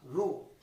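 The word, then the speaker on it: ρ: রো উচ্চারণটা হলো রো।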